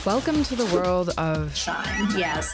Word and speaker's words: SHEIN: Welcome to the world of SHEIN! "Yes, like I don't think it's SHEIN. 'SHE-IN' is how I tend to pronounce it."